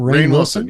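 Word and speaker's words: Rainn Wilson: And is it Rain? Is that how you say his name? Rain Wilson. Yep.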